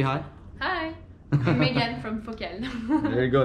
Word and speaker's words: Focal: I'm Megan from Focal. There you go. That's how you say it, by the way. Yeah, Focal. Focal. People say Focal.